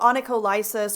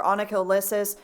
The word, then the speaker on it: onycholysis: So let's talk about onycholysis or onycholysis. You might hear it pronounced either way.